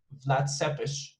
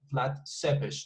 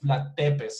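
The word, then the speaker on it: Vlad Țepeș: real as i say vlad seppish flat sebish that's the name not vlad tepes some people say vlad tempest but no it's that seppish which is which is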